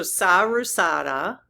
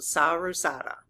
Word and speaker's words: Saraswati: Okay, it actually looks like it's Saru instead of Sarah. That figures. Okay, so Saruswati is how you pronounce it. Saruswati.